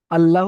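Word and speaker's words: الله: আল্লাহ শব্দে লাম মুসাদ্দাদের ডান দিকে যাবার এসেছে, তাই আল্লাহর লামকে পুর করে পড়তে হবে।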